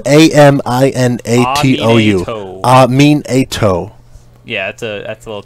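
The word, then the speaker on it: Aminatou: It's spelled A-M-I-N-A-T-O-U.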